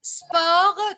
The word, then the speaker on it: sport: Sport, tu ne dois pas prononcer le T final. Attention. Hein. Sport, la consonne finale ne se prononce pas.